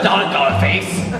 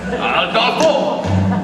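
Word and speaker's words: Aldolpho: No. Not Adolphus. Adolfo. You must say it right, for when we are romanticizing, you must say the right name or it will spoil everything.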